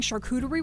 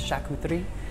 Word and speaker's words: charcuterie: And it turns out we've been pronouncing charcuterie wrong this whole time. If you're saying in French, pardon my French, but it's charcuterie.